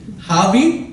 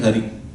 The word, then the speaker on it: Hari: Even Hari Om doesn't come out properly. Havi Om. What is Havi? That is their way of saying Hari.